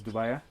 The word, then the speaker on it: dubia: so this is moner dubia uh some people pronounce it as Dua uh right and it